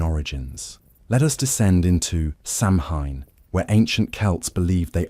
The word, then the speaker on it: Samhain: Samhain, pronounced "Sow-in", marked the transition from the light half of the year to the dark half.